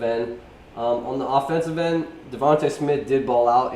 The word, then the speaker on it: DeVonta: It's Devonta. Devonta. It's not Devontae. It's Devonta.